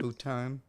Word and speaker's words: futon: Futon. Rhymes with crouton.